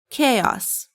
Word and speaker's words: chaos: How do you pronounce it? It's chaos.